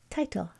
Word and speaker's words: title: If you're wondering if the I is a long I or a short I sound, then you just look over here and ask yourself, is the T doubled? It's not, so you know that the division must happen here. So T-I must be an open syllable. So how would you read this? T-I. Oh, title.